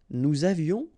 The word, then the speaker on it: nous avions: Nous avions, final S not pronounced, and then little liaison. Nous avions.